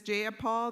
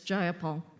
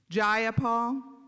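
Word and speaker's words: Jayapal: Do do you agree with Miss Japal that there was no takeover? It was just If you're going to say my name, please say it right. It's Gipol. Gipol.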